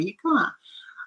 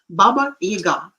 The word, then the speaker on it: Baba Yaga: for example, this Baba Yaga. We call him Yaga, and somehow it is the stress is falling on the first syllable, which is wrong. Baba Yaga.